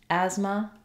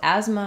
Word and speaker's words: asthma: th th in asthma instead these three letters say the z sound Asma so it's actually simpler